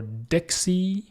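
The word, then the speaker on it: Dexie: particular url which is your dixie i think that's how you pronounce it xy and you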